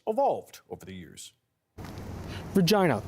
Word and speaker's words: Regina: In classical Latin, the word was originally pronounced as Regina. Languages change over time according to experts, adapting and transforming. So while the spelling of Regina has remained the same, the pronunciation has continued to change. Regina, the Latin pronunciation, is rarely used anymore. Instead, as a result of a process called lenition, the pronunciation was modified to Regina, which you can still find in languages such as French.